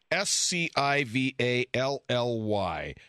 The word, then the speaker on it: Scivally: Okay, and that's pronounced Scivally.